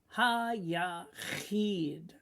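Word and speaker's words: היחיד: And we read it, Ha-Yachid. Again, you got a I and a Y, so it's Eid. So it's like saying Eid, but we put it in one sound, a long I sound.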